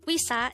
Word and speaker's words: 의사: hangout word number 193 this is pronounced a two-syllable word the first syllable is we second syllable is pronounce it with me the word we saw is simply the korean